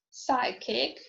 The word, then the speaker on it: psychic: um hiccup okay now is silent in the groups of letters pm pspt for example pneumonia pneumatic psychic pseudo tamigan receipt it is also not